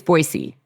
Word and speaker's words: Boise: of the way early is it Boise or boisey or how do you say it it's boisey boyy Idaho no Z involved got it boyy Idaho